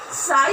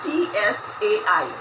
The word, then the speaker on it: Tsai: A Chinese court official named as Tsai Lun. The spelling is T-S-A-I. T is silent here.